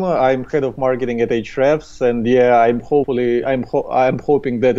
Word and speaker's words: Ahrefs: This is a great question, and the way we like to pronounce it here is Ahrefs. Ahrefs, okay. Yeah, but I think that the correct one would be Ahrefs, like the way you spell it. But we call it Ahrefs, and in all our videos we use Ahrefs, and we try to teach people to do it this way.